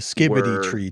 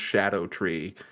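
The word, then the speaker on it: Scadutree: that word is just Shadow tree and just a funky pronunciation they're doing like an Old English thing uh it's the C is pronounced like an sh rather than like a k it's it's just Shadow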